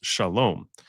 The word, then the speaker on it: shalom: don't speak Arabic, but the word for peace in Hebrew is shalom. The Muslim they say salam, because the SH becomes an S, and instead of the O sound at the end, it's just an A.